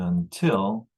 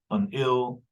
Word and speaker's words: until: a schwa there and until will be pronounced this way so no one says unil or undil because we have a stressed syllable there and it's t elsewhere